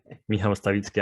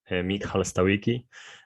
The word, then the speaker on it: Michal Stawicki: Like type my name, Michal Stawicki, Amazon, or like you Americans say, Michal Stawicki, Amazon or Medium or